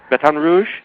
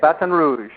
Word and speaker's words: Baton Rouge: you are you're in Baton Rouge did I pronounce that right yeah Baton Rouge batan Rouge that's how they say it batan Rouge batan Rouge I'm I'm pretty good at lingu